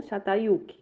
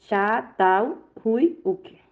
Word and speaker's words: Çatalhöyük: Outra cidade formada é Çatalhöyük ou Çatalhöyük. Pronuncia-se Çatalhöyük.